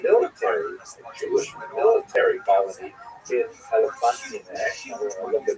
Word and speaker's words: Elephantine: I always pronounce that, by the way, Elephantine. So I look a little more carefully. I think it's supposed to be pronounced Elephantine. The comments will correct me if I get that wrong.